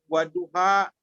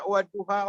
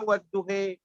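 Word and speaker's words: والضحى: Itu banyak sekali, kayak kalimat waduha boleh dibaca waduhe, al-hataka hadisul gosye, gitu. Boleh gosya, boleh gosye. Kita dilihat tempatnya. Kalau di Libya itu bacanya waduhe. Jadi kalau kita baca waduha, orang ketawa sana. Ya, waduha walaili idza saja. Kalau sana wadduhe walaili idza saja. Kayak orang Betawi.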